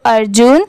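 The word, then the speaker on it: Arjun: अर्जुन अब जैसे देखिए इस नेम में भी ए आर की क्या साउंड आती है अर की आती है और जे यू एन क्या होता है जून अब इन दोनों को जब साथ में मिला देंगे तो अर्जुन ऐसे करके आप इजली इसकी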